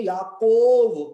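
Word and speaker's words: יעקב: देखिए याकूब जो नाम है उसको हिब्रू भाषा में याकव कहते हैं, याकव। इसमें याकोव नहीं कहते हैं, याकव कहते हैं याकूब को।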